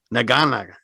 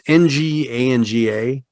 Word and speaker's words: Nganga: And of course, there's this thing called Naganaga. I'm not sure how you pronounce that. It's Nganga.